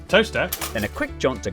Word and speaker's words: Towcester: Mousehole, Next, travel north up to Towcester, Toaster, then a quick jaunt to Gotham, Gotham, followed by a stop in Quernmore, Quorma, before finishing up in Alnwick.